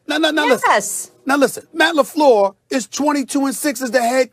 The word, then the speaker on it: LaFleur: Okay, Matt LaFleur. I mentioned that name, right? Did I say correctly, Sometimes Molly? you think you're from Petty. All right. No, Yes. listen. Now listen. Matt LaFleur is 22-6 as the head coach.